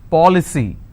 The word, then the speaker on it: policy: For example, policy. How many syllables? 3. Policy. Now here the rule says I need to stress on the third from right, which means I will stress on paw.